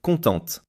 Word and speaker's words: contente: If Leo were female, you would say contente. The pronunciation changes slightly because the ending is pronounced in the feminine form.